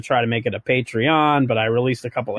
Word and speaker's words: Patreon: So I like the way you pronounce Patreon. Oh, isn't that how it's pronounced? Well, Patreon. You're putting a lot of emphasis on the syllable.